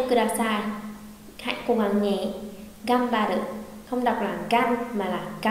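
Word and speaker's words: がんばって: Gam ba đự không đọc là gan mà là gam, gam ba đự.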